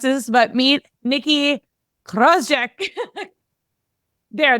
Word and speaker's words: Krawczyk: this, but meet Nikki Krozek. There, that's the Polish Krozek. Yeah, we say Krozek, but Polish people are like, you say your name wrong.